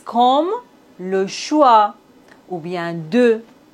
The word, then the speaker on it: choix: On ne doit pas prononcer S final. T comme le concert. Le dessert. X comme le choix.